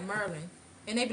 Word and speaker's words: Maryland: Yeah, the way I say Merlin, it's Merlin, DC, Virginia, not Virginia.